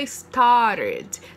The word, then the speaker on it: started: Então, o verbo start é o verbo regular que no passado fica started, tá? Em inglês americano, ele não vai pronunciar o T, então ele vai do R direto para o E.